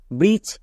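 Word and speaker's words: bridge: আছে এর জন্য হ্যাচ ব্রিজ এখানেও শেষে ডি জি এর জন্য ব্রিজ এবার কেন এখানে ডি এর উচ্চারণ হচ্ছে না কারণ আমরা জানি জি ই এর আগে ডি থাকলে ডি টা সাইলেন্ট এটা সাইলেন্ট লেটারের রুলসে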